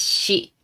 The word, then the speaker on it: し: Next one is she. And you might think this is S plus I and read like C. But in Japanese it is pronounced she.